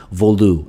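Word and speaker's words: Volutes: but it i didn't know if it was vodotes or veloutz or volois i didn't know and actually i looked up the pronunciation in today and it's um voldu and it apparently means scrolls in uh french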